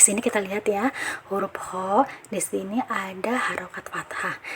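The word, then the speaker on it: خ: Kho ini kalau kita lihat dari makhrajnya, kho ini keluar dari tenggorokan bagian atas. Nah, jadi pengucapan huruf kho ini bukan hanya sekedar dari tenggorokan atas, tapi pangkal lidahnya pun harus benar-benar terangkat, karena kho ini termasuk dalam huruf isti'la.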